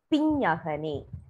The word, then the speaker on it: பிஞ்ஞகனே: It must be pronounced as ஞா ஞா பிஞ்ஞகனே.